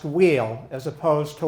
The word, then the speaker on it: Weil: the right it's simple if you're born on the French side you have a French pronunciation which is wheel or V if you're